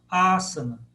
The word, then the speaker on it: Asana: Proparoxítona, ó, Asana.